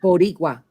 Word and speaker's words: boricua: it wrong spell it instead of boricua like a r is spell it R like a d bodigua Yes Y'all she taught